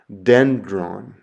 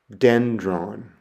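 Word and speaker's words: δένδρον: The next letter is delta, and delta makes a D sound, like our English word dog. And the example I have there is the Greek word for tree, and it's pronounced dendron, dendron.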